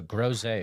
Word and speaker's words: Groze: Yeah, grow as in grow a garden. Zay as in rhymes with Jose. Thank you. So Groze, awesome.